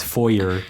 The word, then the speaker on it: foyer: The very American way of saying it is foyer. Foyer. But in other parts of the English-speaking world, they would say foyer.